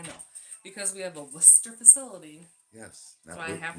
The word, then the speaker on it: Worcester: That's how it's spelled. No. X. That's all right. You try to say Worcester. Worcester. It's Worcester.